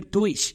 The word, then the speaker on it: Deutsch: You have in your mind Durch, here Deutsch. That's a big difference.